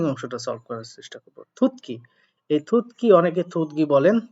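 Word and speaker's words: 듣기: আসলে ত বর্ণের পরে যদি গিউক থাকে তাহলে সেটা সাংগিউক হয়, সাংগিউকে ক হয়, থুতকি।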